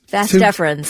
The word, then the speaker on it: vas deferens: Vas deferens, yeah.